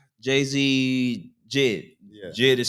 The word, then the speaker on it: JID: Nah, it would be like Ben, like like Jay-Z Jid. Yeah. Jid is spelled J-I-D.